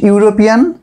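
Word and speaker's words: European: উচ্চারণ হলে এ বসে ইউ এর মত উচ্চারণ কি আমি এখানে লিখছি ড্যাশ ইউরোপিয়ান ড্যাশ ইউনিভার্সিটি এখানে লক্ষণীয় বিষয় দুটো শব্দের কিন্তু একটা শুরু হয়েছে ই দিয়ে একটা শুরু হচ্ছে ইউ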